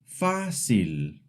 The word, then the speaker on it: fácil: Fácil. The accent mark pulls the stress forward.